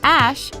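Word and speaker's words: Æ: The AE, which is pronounced Ash, is, according to Grimes,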